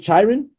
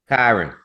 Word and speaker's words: Kyron: How do you pronounce his dad's? Is it Chiron or Kyron? Kyron. Kyron, forgive me, Yes.